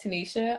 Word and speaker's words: Tanisha: know if you know how to say my name but it's tanisha i don't know if